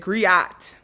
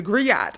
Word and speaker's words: griot: And in sinners, they mispronounced it and said griat. She's a griot.